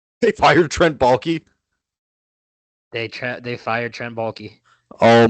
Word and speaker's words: Baalke: They fired Trent Baalke.